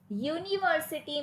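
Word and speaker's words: university: यूनिवर्सिटी में यू आपका vowel है, बट उसमें यू का साउंड वाउल नहीं है। इट is pronouncing with you, य। तो इसीलिए, यानी कि अगर आप इंग्लिश में लिखोगे तो यू वाई ओ यू, यूनिवर्सिटी, वाई ओ यू, ये वाला साउंड है यूनिवर्सिटी।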